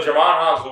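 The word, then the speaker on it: Djimon Hounsou: Jimon Hanzu. Hanzu. Yeah. So Jamon Hanzu, who played the D is silent.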